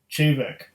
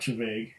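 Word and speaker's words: Té Bheag: Chavaig, pronounced Chevek. So it's not Chavaig, it's Chevek.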